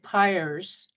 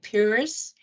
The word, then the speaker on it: Pires: um I know that Pyers is the way you hear the name even in my family however I've always pronounced it purus which is actually closer to the uh Portuguese uh word and the word by